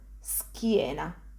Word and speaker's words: schiena: Again, I'm just pronouncing s and then ki. Ski. An example of this pronunciation is in the word schiena.